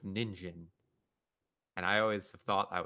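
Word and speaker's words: 人参: as mai or san but in carrot is pronounced jin which is weird because jin is one of the common pronunciations for a person but person is pronounced as nin in carrot so it's ninjin and i always thought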